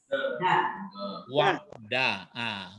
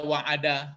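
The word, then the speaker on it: وَعْدَ: Dal ini huruf dal. Wa'da. Itu makanya Ustadz matikan saja ainnya ini. Jangan nanti terbaca wa'ada.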